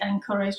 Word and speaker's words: encourage: We've got the soft G there. J, encourage, j, j, j. Sounds like a j, doesn't it? Like j for jelly.